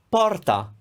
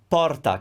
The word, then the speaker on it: porta: sandwich panino panino closed porta porta can you hear is it open or closed porta it's open is closed and finally